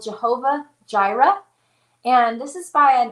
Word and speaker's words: Jireh: anyway it's called jehovah gyra and jira in case you don't know is spelled j i r e h gyra jehovah gyra and it's